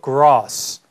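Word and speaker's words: grass: setting on the gross 또 발음에 또 유의하시고 gr 아니고 자 영국식 발음으로 gross gross 잔디밭에 앉아 있다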